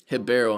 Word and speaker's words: Ribeiro: pulling up oh Hassan hibero I'm sorry I forgot this guy's Brazilian I gotta pronounce the RS like an H I gotta remember to